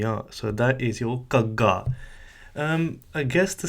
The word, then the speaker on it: ਘ: It's a Gaga, and it's a very strong aspirated G sound that will be attained through constant practice.